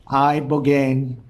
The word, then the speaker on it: ibogaine: In 2024 study from Stanford University, 30 special operation veterans with traumatic brain injuries underwent, it's called ibogaine treatment. Ibogaine. Remember the name. Is that pronounced relatively properly, what you said?